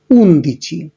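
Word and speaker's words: undici: ওকে, আপনারা সবাই দেখতে পাচ্ছেন যে 11-র ক্ষেত্রে ইতালিয়ান উচ্চারণটা হচ্ছে উনদিচি। এখন পাশে আমি ব্র্যাকেটের মধ্যে মেনশন করে দিয়েছি, এখানে দেখুন উনো ছিল, উনোর ওটা বাদ হয়ে গেছে, এবং দিয়েচির ক্ষেত্রে মাঝের ইটা বাদ হয়ে গেছে।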